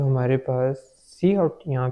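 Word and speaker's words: cout: जो सी आउट है वो हमारे पास एक आइडेंटिफायर है सी आउट, जो कि प्रोनाउंस होता है इस तरह, यानी कि सी आउट ये इस तरह प्रोनाउंस होता है।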